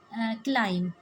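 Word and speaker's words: climb: Silent letter में क्लाइम, बी जो है ये साइलेंट है इन लेटर्स में, तो इसी तरह के हमने और जो साइलेंट वर्ड्स हैं वो लेने हैं।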